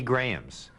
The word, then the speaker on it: Graham: closest to gruna and there were many many grahams as only Bill could do after selecting this